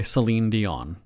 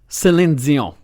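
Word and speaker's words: Céline Dion: the radio show and I'm introducing a song by Selene Dion that's how I pronounce her name Selene Dion on. For some reason, when you're in Quebec and you're talking to somebody, I would be saying it senzion. That's how I would say it because that's how they pronounce it there.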